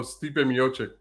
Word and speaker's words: Stipe Miocic: I apologize I apologize if I get his name wrong s t i p e oh Stipe miocic yes thank you very much uh and then